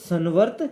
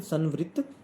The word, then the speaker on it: संवृत्त: व्यवकलन के अंतर्गत भी संवर्त है। तो हम इसमें भी यही लाइन लिख सकते हैं कि परिमेय संख्या व्यवकलन के अंतर्गत संवर्त है। इसकी सही प्रोनाउंसिएशन संवृत्त बोलते हैं, इसको संवृत्त है।